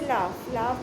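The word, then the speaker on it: laugh: जैसे लाफ में हमें F का साउंड सुनाई दे रहा है.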